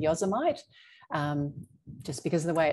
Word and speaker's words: Yosemite: to think was called Yosemite, just because of the way it's spelt. So I used to call it Yosemite until someone corrected me.